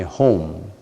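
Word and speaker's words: Hum: Om Mani Padme Home, H-U-M. A home means planting a seed. Planting a seed. Every utterance of Om Mani Padme, Home, that means a seed is planted.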